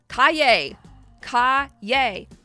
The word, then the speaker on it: Calle: I have Calle.